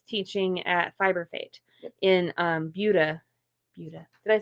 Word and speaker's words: Buda: And then on Sunday we kind of wrap it all up, and we're both teaching at Fiber Fate in Buda.